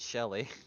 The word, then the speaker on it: Chelly: I Yeah, guess I'll- Che- Oh, what it's the Chelly, but we're all pronouncing it Shelly.